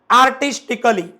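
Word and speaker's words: artistically: बेसिकली बघू शकता तुम्ही आर्टिस्टिकली म्हणजेच काय बरं इथं उच्चार कसा केला अली अली अली अली म्हणजे आपण असं म्हणू शकतो की ए केव्हा सायलेंट असतो जर शेवटी डबल एलवाय असेल आणि त्याच्या अगोदर जर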